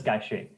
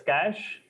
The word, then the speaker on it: cache: it is cach a we can say it as cash or cach both are correct but remember this cashier